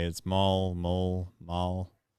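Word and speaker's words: Moll: say it small mole Mall it's pronounced m-o-l-e but it's spelled m-o-l-l so so anyway I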